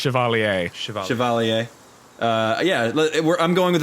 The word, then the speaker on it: Chevalier: or like a knight I say it's Chevallier Chevalier yeah where I'm going with a vaguely French